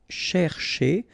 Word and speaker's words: chercher: Chercher. So this one can be a bit tricky if you look at it, because first, here, this first part, you've got to pronounce it cher, okay?